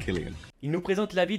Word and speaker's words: Cillian: traits de Cillian Murphy, et non pas Cillian, it's pronounced Killian.